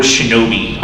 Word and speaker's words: shinobi: The first documented use of the word shinobi in regards to Japan happened in 593.